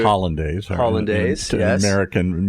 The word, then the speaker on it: hollandaise: You have sauce hollandaise, which is what I'd say hollandaise. Hollandaise, yes. American mispronunciation.